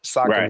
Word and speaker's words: Saucony: Saucony is how you say it."